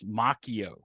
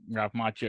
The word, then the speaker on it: Macchio: reveal that yeah well apparently we were mispronouncing his name last time it's Ralph Macchio but he doesn't pronounce it like rap Macho yeah uh but yeah